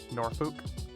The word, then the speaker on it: Norfolk: In the UK, we pronounce it Norfolk. Norfuk.